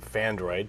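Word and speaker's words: Phandroid: Okay, so the first story of the day from Fandroid, P-H-A-N-D-R-O-I-D, Fandroid, that's spelled that way.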